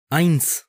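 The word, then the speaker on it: eins: आइंस बोला जाता है हमने अल्फाबेटिक वीडियोस में यह सिखाया था कि अगर ए के बाद ई आए तो तकरीबन हमेशा आई बोला जाता है इसी तरह यह भी आइंस बोला जाता है यानी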